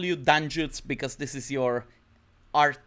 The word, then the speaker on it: Dangiuz: mean yeah I mean you can call me Dan Jude so I mean you you never know how people from USA or UK like pronounce it like this is weird stuff like dang goose than Greece like it's